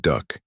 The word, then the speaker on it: DUKW: But the pronunciation duck imposed itself naturally, as if the name had already been born ready.